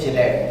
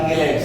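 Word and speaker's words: chelate: अगर कुछ लोग चिलेट बोलते हैं, कुछ किलेट बोलते हैं, स्पेलिंग तो वही है CHELAT। आपको कौन सा अच्छा लगेगा, चिलेट के किलेट? जो मारवाड़ी होंगे उनको चिलेट अच्छा लगेगा, बाकी किलेट सही है ना?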